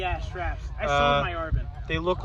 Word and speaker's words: ARVN: That's how it's spelled. It's said Arvin, not ARVIN.